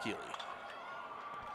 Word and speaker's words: Keely: See, now I'm hearing both Keely and Kaylee out of the dugout. We're going to stick with Keely. That's the way it's spelled.